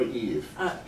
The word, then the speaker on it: EVE: Although Eva, was it Eva or Eve? It's pronounced Eva in the film.